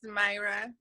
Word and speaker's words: Myra: How do you say your name? It's Myra. Oh, Or Myra, Mira.